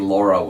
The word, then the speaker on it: Lara: where you're from but since she's British and it's the British pronunciation it's technically Lara okay I'll call her